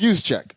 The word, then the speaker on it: Juszczyk: I know I can't pronounce it. It's Juszczyk.